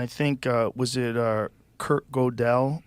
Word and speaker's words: Gödel: And I think, was it Kurt Gödel? Like, how do you say his name? Gödel, yeah. Gödel. Mm-hmm. It's that weird umlaut. Umlaut. Yeah. How do you say it? What's Gödel. Gödel. Gödel. It's Gödel.